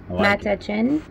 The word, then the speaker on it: Matanchén: Matanchén. Matanchén. Matanchén. Matanchén. Matanchén. M-A-T-A-N-C-H-E-N. That's how you spell it.